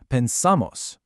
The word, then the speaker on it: pensamos: Now try the we form, pensamos. Hear that? The stress moves to the ending, off of the stem.